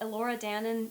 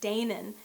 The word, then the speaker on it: Danan: Even though this would have been a legend she grew up with, she should know how to say Elora Danan, not Danan, and it bothered me.